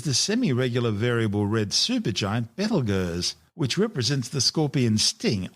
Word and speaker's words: Betelgeuse: Currently known as Betelgeuse, and commonly referred to by the public as Betelgeuse, don't say it 3 times, the names are both tortured mispronunciations of the original Arabic name Ibtal Yawza, meaning the hand of the big man being Orion the Hunter.